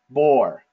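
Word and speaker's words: בּוֹר: And so the way that we pronounce this word, you guys, is bor, okay?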